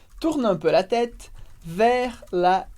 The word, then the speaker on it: vers: E agora você já sabe que a gente fala vers sem pronunciar o S, porque como regra geral, a gente não pronuncia consoantes no final de palavras.